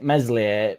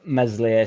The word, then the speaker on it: Meslier: here to be fair melier meslier mesier silent s is